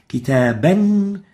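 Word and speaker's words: كتابًا: So, kitaban, kitabun, kitabin is how it's written. Kitaban, kitabun, kitabin is how it's pronounced.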